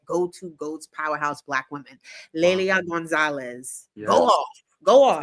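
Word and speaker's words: Lélia Gonzalez: Lelia Gonzalez. Yes. Go off. Go off. First of all, you ate that pronunciation.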